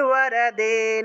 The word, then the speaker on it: বরদে: মধুকৈটভ বিধ্বংসী, মধুকৈটভ বিধ্বংসী, বিধাত্রী বরদে নমঃ, বিধাত্রী বরদে। এখানে যতগুলা ব পাইতেছেন সবগুলা ব হলো অন্তস্থ ব, আর এগুলার উচ্চারণ ওয়া হিসাবে হবে, ওয়া।